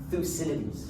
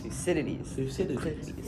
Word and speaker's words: Thucydides: Anyway, so first of all, I know that many people mispronounce his name. It's a bit of a mouthful. So let's say it together: Thucydides. Thucydides.